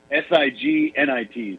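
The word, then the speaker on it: cygnet: swan and it's I the pronunciation is Si G nit so stigment okay go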